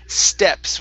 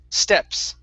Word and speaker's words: steps: word for you is steps with a short e instead of stops stop it's an e steps okay try that try